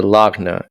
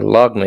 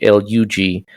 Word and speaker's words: lagna: The proper term, which is what it is called your lagna, and your lagna is spelled. It sounds like Lugna, but it's actually Lagna, lagna, right?